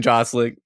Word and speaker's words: Gosling: I'm glad we could all agree on fuck Ryan Gosling. Gosling? You say Goosling. jostling? Yeah, I did. Ryan soft G.